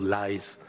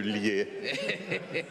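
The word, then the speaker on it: Liès: Yes, again, I insist as an insurer, never forget the accent, because being called Lies would be terrible. Yes, sir. Well, let's make sure then, Monsieur Lier, and emphasize that we're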